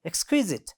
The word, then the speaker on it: exquisite: Look at the third one, exquisite. Okay, exquisite. It has 3 syllables, and the second one is stressed.